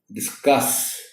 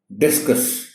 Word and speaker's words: discuss: The word is discuss. Stress इसमें सी पर है, लेकिन इसको पढ़ा कैसे जाता है? आमतौर पर पढ़ा जाता है डिस्कस। अब ऐसा बोलने वालों को शायद ये ख्याल नहीं होता कि इस प्रोनाउंसिएशन के साथ, यानी डिस्कस, डी पर स्ट्रेस के साथ, ये बिल्कुल एक और लफ्ज होता है।